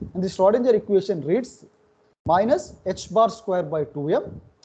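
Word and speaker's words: h-bar: This constant, which is pronounced h bar, have you come across this constant h bar?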